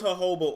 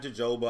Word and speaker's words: jojoba: all right let's see i know it's jojoba oil not jojoba i just like to